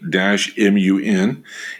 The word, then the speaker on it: Batman: city of batman turkey pronounce batman b-u-t b-u-t-m-u-n in november of 2008